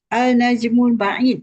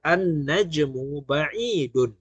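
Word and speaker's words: النجم بعيد: Alnajmul Baid. Macam tu ya. Oke. Begini bacanya. Kalau membaca kena tepat ya. Annajmu baidun.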